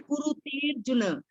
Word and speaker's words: कुरुतेर्जुन: समिद्धोग्निर, last में कुरुतेर्जुन, ए के बाद र की आवाज आनी चाहिए।